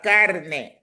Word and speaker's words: carne: The Spanish language has lots of exceptions because you have some words ending in E, which are pronounced A, right? Remember, E is A. So like la carne.